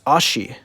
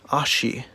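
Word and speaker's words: あし: do you know the japanese for leg it's ashi ashi spelled like that and japanese has its own writing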